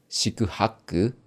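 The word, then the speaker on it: 四苦八苦: Yes, and the phrase shikuhaku, meaning agony, is pronounced the same as 4 times 9 and 8 times 9 in Japan.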